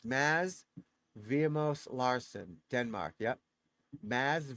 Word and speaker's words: Mads: So you call it Maz. You get the D is silent. So it's Maz Vimos Lararsson Denmark.